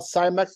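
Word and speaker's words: Cimex: the way are called cymax lactal areas if you want to impress one of your friends that's the Latin term if you have a hard time saying it it rhymes with Timex that's hilarious silly award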